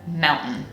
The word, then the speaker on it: mountain: American English is to replace that written t with a glottal stop and pronounce the word Mountain our third word is